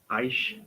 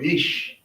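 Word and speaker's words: איש: Aish. Yes. Aish. Or ish. Yeah. The aleph becomes silent with the yod here. It's like aish. It's like ish.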